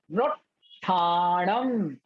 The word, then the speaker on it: नोत्थानम: गुरु भक्ति हीन शिष्या, नोत्थानम, आधा टा और पूरा ठा, बड़ा ठा, तो नु के साथ आधे टा का उच्चारण करें, नोत्थानम, नोत्थानम, नस्सदे, नस्सदे, सब्बम, सब्बम,